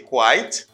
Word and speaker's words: quit: quite all right you say quiet you say quite and then you say quit this is quit